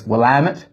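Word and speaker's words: Willamette: one is um well I used to call it will uh the willit region I've since been told it's not willit it's wamit if you want to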